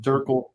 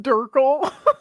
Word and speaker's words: DRCL: Pronounced Durkle. It's pronounced Durkle. Durkle.